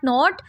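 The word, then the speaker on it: knot: Silent letters are the letters which are written but not read. We do not read them, just write them in the words. Let's start. Not. K. K is silent in this word.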